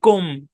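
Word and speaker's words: comb: উচ্চারণটা একটু খেয়াল করেন এটার উচ্চারণ কম না একচুয়ালি এটার উচ্চারণ হচ্ছে কৌম ঔকারে সাউন্ড আসবে হ্যাঁ এটার পিছনে ব্যাখ্যা কি কোন ব্যাখ্যা নাই সি ও এম বি উচ্চারণ কৌম ঔকার মানে এই ও টা লং সাউন্ড দিবে কৌম এরকম কম মানে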